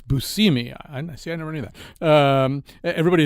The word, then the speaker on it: Buscemi: Everybody is very suspicious of everybody else, and everybody is very eager I just got told I mispronounced. It's Buscemi.